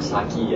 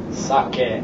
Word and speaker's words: sake: know uh Japanese rice wine as sake or saki as a lot of people pronounce it um it's kind of a misnomer so keep that in mind um but the correct pronunciation is once again sake sake oake oake um let's see another one